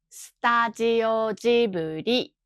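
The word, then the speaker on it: スタジオジブリ: ブリは日本語ではスタジオジブリと発音します。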